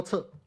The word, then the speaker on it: 輋: is no 'she'[畬]culture in this sense; it becomes 'che'[輋] as in Po Lo Che The two words